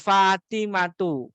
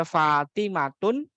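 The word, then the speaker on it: فاطمةُ: Kemudian juga Fatimatu. Ya. Kalau kita bacanya Fatimatun, ya jelas salah. Karena Fatimah itu termasuk al-ismul ladzi la yansarif yang enggak boleh ditanwin harokat akhiriyah.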